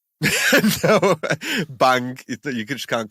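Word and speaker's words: bhang: it's gat got yeah so i'm pronouncing this bang b-h-a-n-g got bang you just can't call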